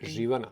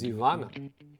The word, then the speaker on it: Živana: On top of everything, I will mention the traditional Cypriot drink Živana, which the Greeks pronounce as Zivana or Zivanja, because they do not have the letter Ž.